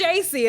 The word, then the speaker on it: JVCIE: __ ] sound effects it's JC and the V is for the a you know how Aaliyah did that whole yeah so it's j-v-c-i-e because my name is spelled j-a-c-i-e I just wanted to